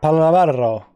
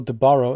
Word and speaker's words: Palaro: Pablo Palaro. That's how you have to pronounce it. It's not Pablo de Barro. It's Palaro.